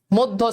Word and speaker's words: মধ্য: মধ্য, সেম, মধ্য, সত্য। দেখো সবগুলো তো জফালা আছে, আমরা জানি যে জফালা থাকলেই স্বরেয় কি হয়ে যায়?